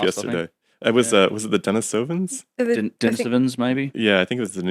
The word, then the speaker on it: Denisova: It's weird because it's a Russian word, but like it's like Denisova cave, but I've heard people say Denisovans or Denisovans.